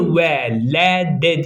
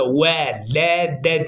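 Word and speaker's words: وَلَدَ: okuyacağız vede de niye Ve le de diye okuyorum Siz harfleri ve harekeleri görün duyun arkadaşlar diye yoksa Ve le de diye okunmaz velede diye okunur velede cim lam Evet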